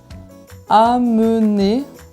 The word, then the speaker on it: amener: On a aussi l'exemple de amener. Amener. Donc ici, on a AM et EN qui se suivent, mais entourés de voyelles. Après AM, il y a E. Après EN, il y a un E aussi. Donc, pas de voyelle nasale, on prononce toutes les lettres normalement. Amener.